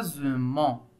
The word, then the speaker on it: boisement: quoi c'est un bois boisement boisement bois boisement boisement très bien la deuxième syllabe c'est ZE ze c'est s e s e s se trouve entre deux voyelles elle se prononce ze oui très bien on